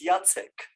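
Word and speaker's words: Jacek: again jasic jack if you want to pronounce my polish uh first name is yatsek you yes back to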